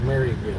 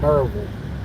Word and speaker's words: Maryville: do not call it marville nobody knows what merville is we pronounce it merville m u r v i l l e but it is spelled m a r y I had somebody sto